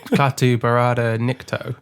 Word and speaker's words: Klaatu Barada Nikto: Klaatu Barada Nikto.